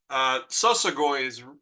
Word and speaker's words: Sosagoi: Just to start off, Sosagoi is kind of the correct pronunciation, is the people who travel by foot. We're called Shoshone. In Shoshone, we say Sosagoi.